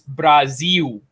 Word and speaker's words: Brazil: Madeira, Panamax, Nippon, and now an upcoming game called Brazil, which should be pronounced, by the way, Jeff, here it's Brazil.